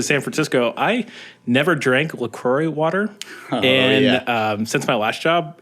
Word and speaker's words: LaCroix: It's pronounced LaCroix here in San Francisco. LaCroix. I call it LaCroix.